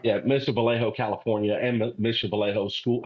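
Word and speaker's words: Mission Viejo: Jerry it is Mission Vallejo that's right yeah Mission Vallejo California and Mission Vallejo school high school where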